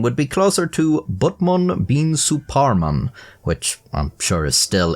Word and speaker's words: Batman bin Suparman: not exactly the same in Japanese the correct pronunciation of his name would be closer to bman Bean suan which I'm sure is still incorrect but it's